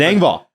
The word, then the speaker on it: Engvall: It's Engvall.